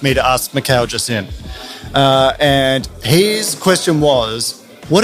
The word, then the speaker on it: Mikael Jasin: Pronounced that correctly? Yeah. Mikael Jasin? Mikael Jasin, yes.